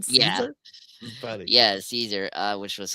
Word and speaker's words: Caesar: I love the little running gag that they're pronouncing Caesar wrong. It was like Kaiser. Kaiser. Yeah, Kaiser. He's like, that's more German. You guys have more of a Roman thing. Are you pronouncing this right? Do you mean Caesar?